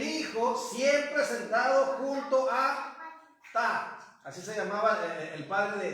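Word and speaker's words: Ptah: Horus era el hijo siempre sentado junto a Ta. Así se llamaba el padre de Horus. P-T-A-H. Ta. Horus también fue llamado fonéticamente como, y luego hay unas que no tienen pronunciación, Cristo.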